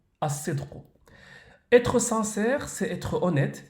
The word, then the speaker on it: الصدق: En arabe, la sincérité se prononce as-sidqu, as-sidqu.